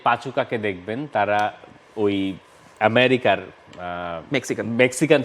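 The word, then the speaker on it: Pachuca: অনেক জায়গায় অবশ্য কেউ পাচু চা লেখার চেষ্টা করছেন, পরে পাচু কা হবে। এটা হচ্ছে ব্যাপার, আমাদের ওসিডির একটা ব্যাপার থাকে নাম লেখার ক্ষেত্রে এবং উচ্চারণের ক্ষেত্রে।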